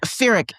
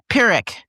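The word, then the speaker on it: Pyrrhic: Um so pirick, isn't there H in it? Yeah. Yeah, but yes. Oh, the H is silent.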